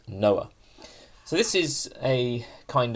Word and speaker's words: NOA: attitude uh or the the acronym there is pronounced Noah so this is a